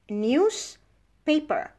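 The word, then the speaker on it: newspaper: what sound comes after for example news now news the S is pronounced zap what's the only word and paper is pronounced paper but when we put the two words together news paper now we divorce the Z and becomes an S why because the P is voiceless so what we do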